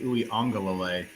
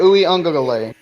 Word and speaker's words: Uiagalelei: I will pull for DJ Uiagalelei in the Clemson. Man, you say that flawlessly, by the way. All right. Christian? I don't know. DJ Uiagalelei.